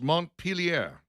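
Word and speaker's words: Montpelier: Dixon, how do you pronounce Mont Pelier?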